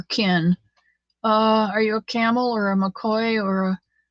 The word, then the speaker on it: Campbell: good yeah she's a camel okay went to school with a Cassie Campbell she didn't pronounce the b either she pronounced it camel like Pam does Camel